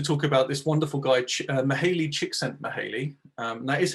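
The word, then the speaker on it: Csikszentmihalyi: now just to talk about this wonderful guy mahali chick sent me haley um that is how you pronounce it i had to double check um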